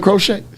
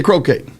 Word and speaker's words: croquette: do you eat salmon crochet salmon crochet crochet yeah croquette he's saying it right you're not supposed to pronounce crochet crochet yeah do you eat